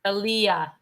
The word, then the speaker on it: Aaliyah: That's how she says to pronounce her name. Aaliyah. Okay. All right. Like the singer, she says.